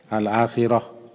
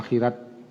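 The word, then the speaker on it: الآخرة: Kalau akhirat pakai ta marbutah al-akhirah. Tambah ta di belakang akhirah. Orang awak baca akhirat. Kalau menurut ejaan bahasanya akhirah, dawak akhirat. Ngomong ke itu bahasa orang awak, ya orang awak kena orang Arab.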